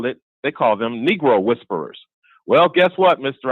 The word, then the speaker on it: negro: of the shoes was Negro brown. Now, come on, Mr. Ivey. We all know that in the Spanish language, the word for the color black is spelled Negro, and it's pronounced negro.